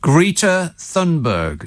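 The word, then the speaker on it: Greta Thunberg: robert you want to learn that by wrote greta thundberg say it after me it agrees see i'm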